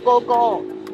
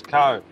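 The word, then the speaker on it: Ko: That's co. Go. Co. Go, not co. Go. Oh, fuck hell. If you won't listen, it's spelled K-O, which in English is co. But in Thai we call go.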